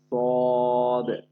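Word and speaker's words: صاد: আচ্ছা, এরপরে আছে সদ। সদটা শিরশির মোটা আওয়াজে সদ। সদ আবার সিনের মতো যেন না হয়, এই তিনটা।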